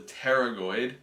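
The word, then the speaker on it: pterygoid: And this is occurring basically because this muscle called the terragoid, very weirdly spelled, spelled like a pterodactyl, attaches directly into the disc and the joint.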